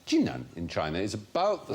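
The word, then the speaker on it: Jinan: sensitive to ethanol intoxication China the city of chinan spelled Quan but pronounced chinan in China is about the same size as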